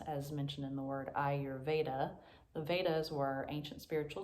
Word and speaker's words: Ayurveda: pronunciation of ayurveda so the way that i was taught was to think i your veda ayurveda as i mentioned before